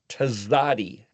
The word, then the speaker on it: Tzadi: And so I spell it, just so you know, with a capital T and then a lowercase Z. See, because that's the pronunciation. Tz Tzadi. But you put it together, tzadi. It's not an ST and it's not a TS. Close to a TS, but it's a TZ.